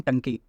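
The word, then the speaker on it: Ntangki: एन टंकी नाम का है, इसमें एन साइलेंट होता है, ओके।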